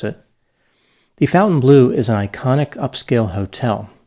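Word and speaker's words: Fontainebleau: while i know that it is in fact pronounced fountain blue by people who live there although i'm sure there are other ways who people outside of florida could pronounce it the fountain blue is an iconic upscale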